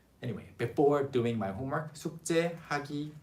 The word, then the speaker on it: 숙제: 숙제. It's written as 숙 and 제, but it's pronounced as 숙제.